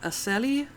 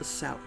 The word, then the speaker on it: Acele: says so right here a Sally but let's ask it anyway a cell okay apparently it's pronounced a cell some masculinity below that